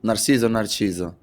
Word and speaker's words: Narciso: Narciso. Yeah, that's how you want to pronounce it.